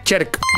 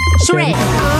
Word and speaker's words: Shrek: Decirlo como chilena. Cherk. Shrek. ¿Vieron que los chilenos no pronuncian las SHs?